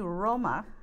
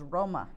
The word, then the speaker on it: Roma: it's going to be Roma which is the Italian pronunciation for Rome because we have Italian in the clue so Italian in the clue means Italian in the grid and the answer is Roma uh Gary miles says